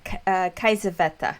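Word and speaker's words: Kiesewetter: Kaisaveta.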